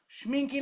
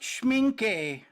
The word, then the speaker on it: Schmincke: Schmincke like Pinky. But it is pronounced Schmincke.